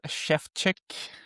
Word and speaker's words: Szewczyk: I'm here with Michael Shevchek. I practiced it before the call. Uh so that's the right pronunciation.